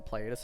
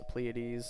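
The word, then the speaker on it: Pleiades: pronounced I think uh pleades yeah pleades and that's like the kind of Greek pronunciation of it or something like that I know a lot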